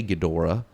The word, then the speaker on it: Ghidorah: Do you say Ghidra or do you say Ghidorah? It's spelled Ghidorah, so I'm going to say Ghidorah. When I was a kid, I used to say Ghidra.